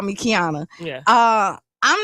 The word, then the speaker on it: Qiana: No, but I mean you people So, it's so funny uh when people look at my name sometimes they can't pronounce it because it's the Q without the U.